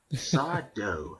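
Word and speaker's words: Sardo: Saw Doe, accent on the O.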